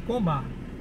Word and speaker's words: Komah: Deixa eu perguntar aqui a pronúncia certa aqui. Então, pessoal, aqui é o restaurante Coma, tá, coreano?